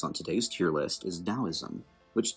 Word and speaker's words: Daoism: Now, the next religion we are going to place on today's tier list is Daoism, which, despite being spelled like Taoism, is in fact pronounced with a D, not a T.